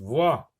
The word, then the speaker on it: voix: Voix, X est une lettre muette.